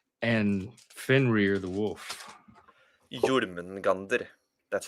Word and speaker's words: Jörmungandr: And then you're fighting the six monsters like Loki, Hel, Surt, Nidhogg, Jörmungandr, and Fenrir the wolf. Jörmungandr. That's how you pronounce it.